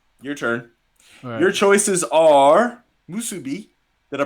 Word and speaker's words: musubi: mate what's up your turn your choices are musubi did i pronounce that correct you did very good and